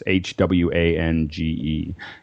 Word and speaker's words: Hwange: Also, if you are in the Victoria Falls area, there's also, and I never say it right, but it's Hwange Park. It's Hwange.